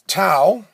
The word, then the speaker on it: tau: So if we put all these things together, we get a formula for torque, and that formula is tau. Tau is the Greek version of T, and it's spelled T-A-U, in case you're wondering.